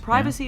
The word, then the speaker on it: privacy: For example, vitamins is pronounced vitamins. Vitamins. Privacy is pronounced privacy, and Yep. garage is pronounced garage.